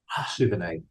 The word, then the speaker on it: Souvenaid: Souvenaid. It's from the French word souvenir or something like that, which means to remember. Souvenaid.